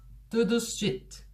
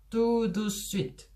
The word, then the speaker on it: tout de suite: tout de suite. tout de suite. 5음절이나 돼요. tout de suite. 그런데 이거를 tout de suite, tout de suite, tout de suite 이렇게 3음절로 줄여서 발음을 하게 됩니다.